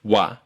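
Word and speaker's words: は: them all the time they're spelled ha and he but they're pronounced wa and E uh the last tricky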